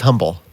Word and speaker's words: humble: we've got humble uh it's humble uh silent h humble yeah it's not a silent age actually humble well i don't know i here's the deal i feel like arrogant people call it humble and so all right